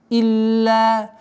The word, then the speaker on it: إلا: Илля. Четкое произношение. Илля. Удвоение, а потом долгота в размере 2 огласовок.